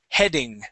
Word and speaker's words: heading: heading okay so yes sometimes the AE together makes an e sound in this case this makes a short e sound the word is he heading try that heading one more time heading